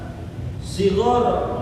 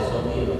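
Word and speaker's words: صَغِيرًا: Maka kalau dibacanya wali walidaina warhamhuma kama rabbayana shighara, nggak boleh shogir, salah lagi baca karena nyusunnya salah, ada aturannya.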